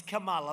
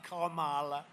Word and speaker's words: Kamala: It's Kamala, like a comma, Kamala.